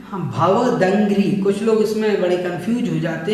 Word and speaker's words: भवदंघ्रि: भवदंघ्रि, दंघ्रि सरोरुहाणाम इसको बोलना है हम भवदंघ्रि। कुछ लोग इसमें बड़े कंफ्यूज हो जाते हैं कैसे इसका उच्चारण करें। तो भव अलग करना है, दंघ्रि अलग करना है, सरोरुहाणाम अलग करना है।